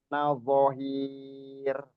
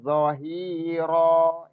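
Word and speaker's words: ظهيرا: Fala takunan zahir. Pak Lazuardi berhenti tadi. Berhenti di situ, nggak zahir dibacanya, tapi zahiro.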